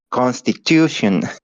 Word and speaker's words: Constitution: to the word Constitution which syllable has all of the focus all of the Power the first syllable Constitution con uh that would be Constitution is it Con is it Constitution Constitution mhm where's where's all the power Constitution constitution in the last Constitution so it's Constitution Constitution con oh no